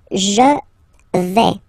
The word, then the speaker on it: je vais: The first form is je vais. Okay, so remember, final S not pronounced here.